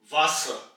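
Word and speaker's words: Wasser: वे की रहेगी वे वास वास यानी के वाटर और यहां पर आप नोट करें कि आर एंड में आया है तो इसको हम बहुत लाइट प्रोनाउंस करेंगे ऑलमोस्ट इसको नेगलेक्ट कर देंगे वास वे वाइस वाइस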